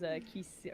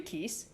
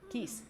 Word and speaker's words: Keese: Noir wants us to watch out those Kisi or more or real killers. Is it, how do you pronounce the little bat guys? Like Kisi? Kessie? I do Keese. Geese? Keese. It's like geese.